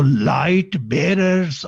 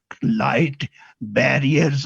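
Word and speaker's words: Light Bearers: है और उसका जो नाम है वो लाइट बेरर्स of Christ church है, नॉट लाइट बैरियर्स of Christ church.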